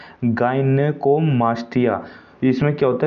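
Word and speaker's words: gynecomastia: अब इस पर स्वास्थ्य के प्रभाव के मुहासों की समस्या हो जाती है, बाल झड़ने लगते हैं, गाइनोमास्टिया, इसे सॉरी मैंने सही से प्रोनाउंस नहीं किया, गाइनेकोमास्टिया।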